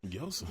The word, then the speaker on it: Joseph: Yseph. Yseph. Yseph. The J is silent.